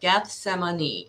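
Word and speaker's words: Gethsemane: my above statement get some a knee okay Geth semini is the correct pronunciation a garden between Jerusalem and the Mount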